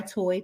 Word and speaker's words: Toi: and I'm like no there's no a um it's spelled l a t o i is my real name but I go by toy t o i and so when I made